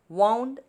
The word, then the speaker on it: wound: is the rope was wound around a bamboo the meaning of this wound is tied around and it rhymes with the word pound next sentence the soldier